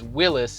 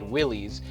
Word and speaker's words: Willys: that in the video I mispronounced Kaiser Willis its Willis and I accidentally said willies and it's funny my